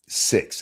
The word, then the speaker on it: Stixs: Songs of Stixs Hexenhammer six. It's actually but it's spelled sx so my brain always reads it as sticks.